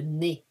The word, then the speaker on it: nez: Alors, you notice the Z at the end. We are not pronouncing it. The E and the Z together makes a sound E, le nez.